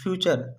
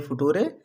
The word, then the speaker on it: future: FUTURE फ्यूचर, इसे हमें फुटूरे नहीं पढ़ना है।